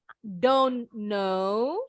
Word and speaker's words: don't know: Yeah I don't know jadi bacanya seperti nama pelawak terkenal Dono Kasino Indro Dono Kasino Warkop DKI nggak tahu Om Indro ada filmnya Warkop DKI bacanya down now bacanya seperti nama orang Indonesia Dono Dono yang ini ya